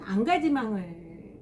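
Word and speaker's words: engagement: 그래서 사르트르 같은 경우는 안가지망을 강조했어요. 인게이지먼트, 영어로 얘기하면 뭐 약혼이다, 약속이다. 근데 이제 프랑스 말로 발음하면은 안가지망, 현실에 참여한다.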